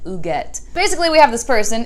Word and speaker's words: Huguette: And every time I see the name, it looks like Huguette, but she's French. And in the book, they say what the pronunciation is, and they say that it sounds more like Huguette.